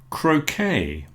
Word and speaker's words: croquet: lot of cases, but one thing we all agree on is we don't pronounce the T. So, beret, buffet or buffet, cabernet, a type of wine, croquet is a game, gourmet,